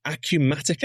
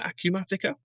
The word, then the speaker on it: Acumatica: Next up, we've got Acumatica. Am I pronouncing that correctly, Ryan? I've never come across these guys before. Is that right, Acumatica?